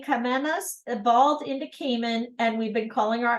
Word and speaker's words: Cayman: name Kamas evolved into Cayman and we've been calling our islands that ever since did you know the proper way to pronounced Cayman is Kon think of it as a rhyming with hon okay Kon all right